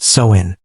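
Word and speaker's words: Samhain: And the most powerful night of the year was October 31st, the festival of Sin, pronounced Soin.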